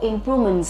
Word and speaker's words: improvement: cái sự tiến bộ improvement là sự cải tiến sự nâng cao nhấn âm tiết xuống 02 nha improvement của những cái